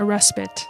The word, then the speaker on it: respite: it softens to take a respite a respit I think respite respite I don't actually know how to pronounce respite this is kind of troublesome it's actually respit God damn it English